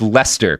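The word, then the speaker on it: Leicester: I didn't I didn't realize it was pronounced Lester because it's not at all spelled like Lester cuz there's there's not an L anywhere in here.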